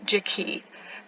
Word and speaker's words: Jacque: reason for the entirety of reading that series pronounced it Jackie and I I couldn't tell you why it